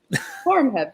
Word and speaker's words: Horemheb: Her dissertation on the reign of the pharaoh, correct me on trying to pronounce them. I am from the South too, so I'm horrible. Horemheb, yeah.